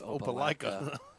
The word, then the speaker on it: Opelika: ever you kept calling it Opelika oh it's Opelika from Magog man it's a wonderful Lake okay